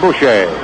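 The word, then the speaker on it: Bouchee: I think the pronunciation for his name actually is Bush.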